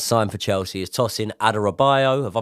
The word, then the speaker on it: Adarabioyo: One man that we didn't talk about in recent videos, and obviously he has signed for Chelsea, is Tosin Adarabioyo. Have I pronounced that right?